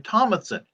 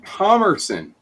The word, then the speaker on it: Thomerson: No, not Matheson. Tim Thomason, Doll Man. Oh, Thomerson. I'm sorry, I mispronounced.